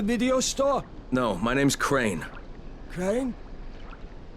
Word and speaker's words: Crane: store no my name's crane crane crane rhymes with train and brain and sun and grain and rain and plane and the other kind of plane and and can i